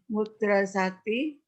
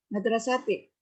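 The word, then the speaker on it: مدرستي: Madrasati. Apa Bu? Madrasah. Iya, jadi bacanya bagaimana? Manfil madrasati. Iya, begitu ya.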